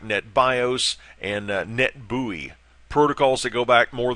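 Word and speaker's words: NetBEUI: NE T be UI net buoy is the way that's pronounced just a couple of other references for the session layer things like net bios and net buoy protocols that go back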